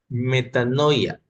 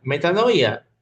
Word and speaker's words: metanoia: Vamos a ver el día de hoy lo que es el arrepentimiento en sí y de acuerdo al griego, la pronunciación significa metanoia.